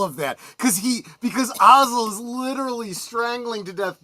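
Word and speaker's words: Ozzel: So uh of course he receives his uh promotion to admiral when uh uh when uh Admiral Ozel or Ozel I think is is how Vader pronounces it.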